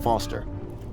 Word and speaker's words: Foster: pickle so it does I'm Foster I'll remember that easy because your name rhymes with fossil and you're old thanks kid what's wrong